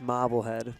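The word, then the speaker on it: Marblehead: a marble head Mass I believe it's pronounced mobble head but I've only been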